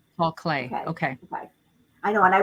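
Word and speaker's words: Paul Klee: Sue says his name is pronounced Paul Clay. Paul Clay.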